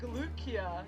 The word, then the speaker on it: Lucia: in ed walker lucia it's like lukia cause cause she's i